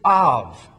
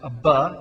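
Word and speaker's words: אב: It can also be, a bait can be pronounced Abba, depending on whether or not there is a little dot in the middle of the bait there.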